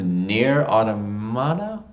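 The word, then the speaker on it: Nier: Automata: The game I couldn't pronounce was Nier Automata? Automata. Automata? I know that one. Nier Automata? This guy's got it. N-I-E-R and it's Automata, yeah.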